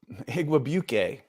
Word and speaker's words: Igwebuike: Igwebuike is how you say his name, and he looked really good.